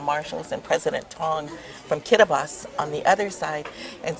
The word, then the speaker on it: Kiribati: And it said, do not say Kiribati. It's pronounced Kiribati. Their T is pronounced like an S.